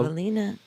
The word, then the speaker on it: Ewelina: Oh, The W is a V. oh, very well. Evelina.